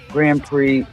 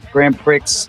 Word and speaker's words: Grand Prix: we have shark NATO Grand Prix Grand Pricks it's pronounced Pricks because that's funny and then one other